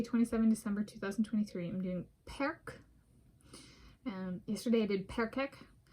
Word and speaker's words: perc: for today Wednesday 27 December 20123 I'm doing perk um yesterday I did perek so perk is the singular of perek and it translates